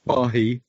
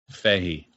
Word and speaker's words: Fahey: It's not Fahy. Fahey.